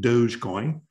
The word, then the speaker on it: Dogecoin: named after their dog doggy coin but they pronounce it dogecoin and uh guess what there's 20 billion u.s